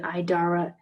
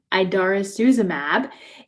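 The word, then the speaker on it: idarucizumab: approved for each medication and so um the idarra i'm sorry i pronounced that wrong idarosuzumab is approved for the reversal of the pradaxa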